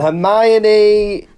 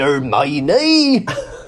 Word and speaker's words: Hermione: life i think it's i don't know and hermione well ron suddenly sounds like hagrid when he's eating there's a bit where he says come on earn my knee am i talking like that it's literally spelled